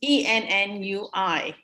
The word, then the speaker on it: ennui: a young lady I know was going to use a word in a poem, and she pronounced it's Ennui. Now, the word is pronounced ennui, and she was saying Only.